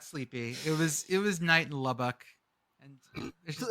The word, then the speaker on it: Lubbock: Why do you say Lubbock like that? Lubbock. I love the way that you treat each bee separately. It's Lubbock.